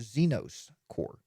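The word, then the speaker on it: Zenoss Core: to think about now here's the hard one to pronounce xenos core ze n 0 SS cores Zeno's core Zeno's cores a powerful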